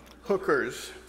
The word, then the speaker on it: HCRS: and Recreation service hcrs you know how that acronym is pronounced hookers and and the and